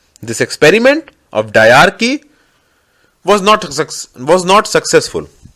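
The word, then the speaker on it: Dyarchy: also famous known as डार्की डयार की spelling is डी वाई ए आर सी एच वाई I repeat D वाई ए आर सी एच वाई इट वाज अ Greek term which meant double rule this experiment of डार्की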